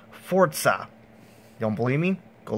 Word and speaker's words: Forza: pronounced to get right this time it's not pronounced Forza as most of you guys would say it it's actually pronounced Forza you don't believe me go look it up it's actually pronounced Forza so anyways this is the first ever for